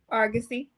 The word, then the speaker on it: Argosy: You have a master's in community counseling from Argosy. Am I pronouncing that right? Argosy.